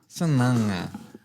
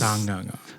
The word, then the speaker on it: Sagaga: Sananga. Yeah. Where's the N in that? Man, it's the pronunciation. It's kind of like a N, like almost like a nana. Yeah. Nana. Yeah. Because there's Sanganga.